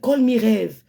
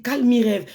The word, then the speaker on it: Call me rêve: tu mon TikTok c'est call me rêve. Call me rêve. L'autre derniè elle a prononcé mon TikTok, elle a dit calm rêve. Souris bordel. Mon TikTok ce n'est pas calm rêve.